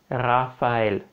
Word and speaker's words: Raphaël: Petite parenthèse, en arménien, le mot Raphaël, on va prononcer avec la lettre R. Raphaël.